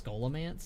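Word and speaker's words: Scholomance: I think it's scholamance is the the correct pronunciation because it sounds like school.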